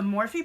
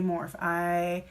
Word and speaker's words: Morphe: me the other day say more if I has said more for years and you think as a makeup person I would know how to say it correctly and that was morphe but I didn't but now I do so I will not make that mistake again catch me saying it